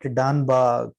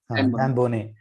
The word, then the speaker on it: Dan Boneh: So the best source for it is that Danba, I am not pronouncing properly. Dan Boneh.